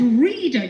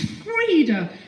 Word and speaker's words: Freda: I thought she said reader. She like, you've said it wrong. Gosh. Okay. So, it's it's Freda.